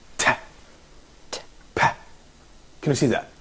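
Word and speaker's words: تاء: It's pronounced like a clear frontal English Ta, but unlike Ta in English, no aspiration in pronouncing it.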